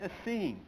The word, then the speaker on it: Essene: Here we're going to look at tonight Jesus the Essene, E-S-S-E-N-E, Jesus the Essene. There was a man named Eusebius. I'm going to spell that name, E-U-S-E-B-I-U-S, Eusebius.